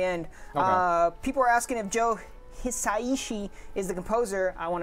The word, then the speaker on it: Joe Hisaishi: at the very end people are asking if Joe Hisaishi is the composer I want to make sure I pronounce that correct Joe Hisaishi is the composer he is returning from ninokuni